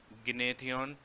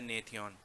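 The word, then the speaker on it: Gnathion: और इन दोनों के बीच में नेथयन गनेथन या नेथयन जी साइलेंट है।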